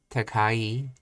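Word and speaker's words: 高い: For example, takai is pronounced low, high, low.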